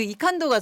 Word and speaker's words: 이칸도: 네, I can do를 독일식 발음으로 읽으면 이칸도 이렇게 아. 읽히거든요.